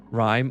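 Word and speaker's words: Rime: Rhyme. Oh, it's rhyme. That's right, because the E makes the I sound like an I.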